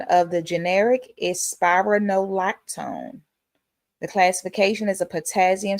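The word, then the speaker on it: spironolactone: Pronunciation of the generic is spyronolactone.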